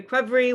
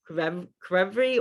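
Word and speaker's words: ქვევრი: In Georgia, you pronounce every consonant. So even when they're next to each other, I mean, I think the only example like CH is still pronounced like a cha, but you really pronounce each letter.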